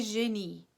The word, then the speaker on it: génie: Le mauvais génie. Le mauvais génie. Le mauvais génie. The evil genius, right? And in French, the emphasis is on the last syllable, right?